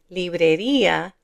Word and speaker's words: librería: cárcel en la farmacia Notice here librería, there's an accent mark on that i, so we separate these two sounds, i-a, librería, but there isn't one here.